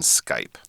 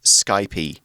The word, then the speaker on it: Skype: her pen pal, on Skype. Yeah, and we've got to say, it's Skype. It's not Skypey. Oh, yes. Yeah, it's a common mispronunciation I've found here. It isn't Skypey, it is Skype.